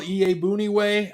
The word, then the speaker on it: Iyiegbuniwe: So you look at your inside backers, Danny T, Roquan Smith, Joel Iyiegbuniwe.